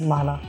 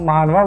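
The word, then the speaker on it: 만화: Web comic या माना बनाना, यस माना, जो कोरियन वेबटून होते हैं जिन्हें हम मानवा बोलते हैं, असल में वो मानवा नहीं होते, माना होते हैं। उसमें W साइलेंट होता है।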